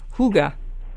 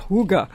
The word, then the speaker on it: hygge: it's spelled h y g g but you pronounce it um in the language Huga you know h o o g h Huga like that gunar will you pronounce it for